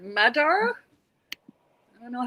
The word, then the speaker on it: Magyar: I'm saying Magyar because that's how it's spelled. She said Madar.